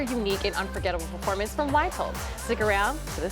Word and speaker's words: Wytold: So my name would be, in the traditional Polish pronunciation, Wytold, and my last name is, but it used to be.